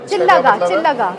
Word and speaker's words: चिल्ला: चिल्ला मतलब इसका स्पेलिंग तो ये होती है बट प्रोनाउंसिएशन चिल्लागा बेसिकली।